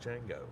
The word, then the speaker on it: Ninjago: Ninjago is very popular it's not Ninjago it's nango whatever which one was